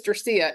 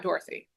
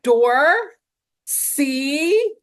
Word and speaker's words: Dorsía: to tell, the teacher, my name is Dorsía, not Dorothy. Oh. And then really I had to like mime it out later. Door, see, like phonetically.